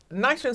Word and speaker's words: NYCHA: didn't know what if you're not from here nicer sounds like a kind of like a prison